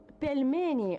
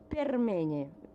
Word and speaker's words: pelmeni: He wrote the Russian word pelmeni, or dumplings, in the way the Chinese pronounces permeni. Instead of L, letter R was used.